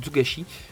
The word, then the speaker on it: Togashi: Ici on passe au coin de Yoshiro Togashi. Ouais, Togashi. J'avais prononcé ça mal là tantôt je pense. Hein. Donc, Togashi.